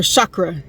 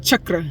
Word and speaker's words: chakra: to open your third eye chakra right or Shakra as everybody knows is but it's pronounced chakra just to let y'all know all of them